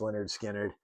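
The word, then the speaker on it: Lynyrd Skynyrd: Uh, Leonard Skannard, pronounced Leonard Skannard.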